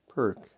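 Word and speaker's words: Pirc: P-I-R-C, pronounced perk.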